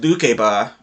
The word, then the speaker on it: Lukeba: And I did find out it's actually supposed to be pronounced Lukeba.